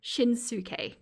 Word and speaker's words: Shinsuke: Oh no, I said it right first. Shinsuke.